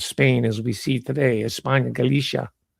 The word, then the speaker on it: España: was an immigrant from España. That's how it's said in Spain. España, not España. So, but I'll say España.